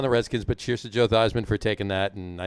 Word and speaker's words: Theismann: redskins but cheers to joe theismann for taking that and i know it ended his career but well joe thiesman until he decided to change the pronunciation of his name to rhyme with heisman okay on that